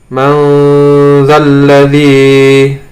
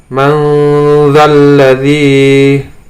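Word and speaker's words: من ذا الذي: Kemudian di sini ada nun sukun bertemu dengan zal, membacanya adalah manzalladzi. Saya contoh, ulangi lagi, manzalladzi.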